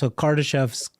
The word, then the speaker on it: Kardashev: So Kardashev's, how do you say it?